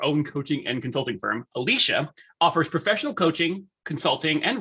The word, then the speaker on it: Alecia: i have with me is it alessia or alicia it's alicia alicia alicia i like the